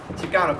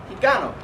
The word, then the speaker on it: Chicano: If you take out the M and the E in the word Mexicano, you get Chicano, which is the way it is pronounced in today's song. But in Nahuatl, the native language of the Aztecs, the letter X was pronounced as sh, giving you Chicano, and then eventually Chicano.